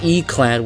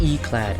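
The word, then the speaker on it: yclad: Apparently, what E-clad is? Oh, E-clad with the I being soft. Okay. Oh, E-clad.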